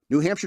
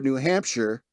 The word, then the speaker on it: Hampshire: an official pronunciation for New Hampshire in state law to make it clear that shire rhymes with fur and not fire. They don't want you to say New Hampshire.